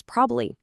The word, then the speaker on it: probably: Probably becomes probably.